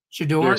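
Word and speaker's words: Shedeur: Shador.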